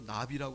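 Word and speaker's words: נביא: 선지자가 히브리어로 나비라고 합니다. 우리 한글 곤충 나비 있잖아요. 발음이 똑같아요.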